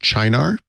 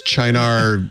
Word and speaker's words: Cynar: I already know the answer to this question, but I was recently introduced to something I believe is pronounced Chinar. It's like CENAR.